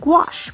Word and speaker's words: gouache: tools and inspiration to explore gouache pronounced gouache paint a water-based medium that is